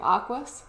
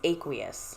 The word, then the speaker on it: aqueous: Aquas? I think we were saying aquas, but it's I think it's aqueous. Aqueous.